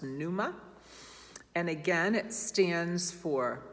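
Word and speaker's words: πνεῦμα: the word is pneuma with a silent p at the front so it looks like pnuma but it's pronounced numa and again it stands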